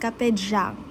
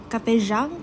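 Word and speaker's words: Café Giảng: I really don't know guys how to pronounce it pero nung meron akong napanood na Vietnamese ganun niyo siya i-pronounce. Kapejang. Kapejang parang ganun.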